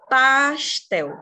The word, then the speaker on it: pastel: Pastel. Qual que é a sílaba tônica de pastel? Tel.